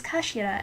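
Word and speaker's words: 頭: end of the hilt it's written as head in Japanese but it's pronounced as Kashira I believe so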